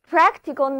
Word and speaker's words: practical: 这两个字母 C 都发作清辅音 k。